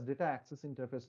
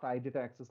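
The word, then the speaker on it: IDataAccess: it is an interface, but pronounced as data access interface, not iData access like the way I was saying.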